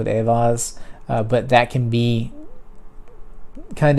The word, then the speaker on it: Eihwaz: It's frequently referred to as the EI sound, which is either the long I of like the word ice or the long A of the word gate. It just depends, because if you look at it phonetically, a, gate, Aett. So, or it could be ice.